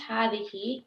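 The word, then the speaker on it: هٰذِهِ: It is pronounced hadihi, but the alif is omitted in writing.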